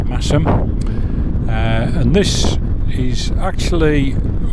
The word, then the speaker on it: Masham: towards rippen and massam don't be um fooled into pronouncing it masham it's massam uh and this is